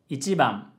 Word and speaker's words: 一番: 一番 has a low, high, low, low pitch pattern.